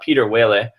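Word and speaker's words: Pieter Wuille: for a proposal from Peter Whaley that's how I've heard it pronounced and I could be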